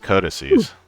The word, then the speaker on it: codices: That's pronounced codices.